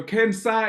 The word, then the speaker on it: CANSA: things between two words the one word is caner the disease and the other word is cancer the organization so Cana is spelled c a NS a it means South Africa can it's a play on the word cancer which is the disease so don't get too